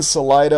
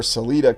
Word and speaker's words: Salida: Here in Salida or Celita, Colorado, pronunciations vary, you have the roundhouse of the great rails.